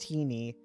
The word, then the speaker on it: Tiny: for kids where a woman named tiny pronounced teeny a dutch name said something like i